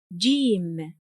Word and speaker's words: جيم: Today’s letter is Jīm, Jīm. Although it’s romanized by the English letter /j/, its sound is different. The sound is [j], [j].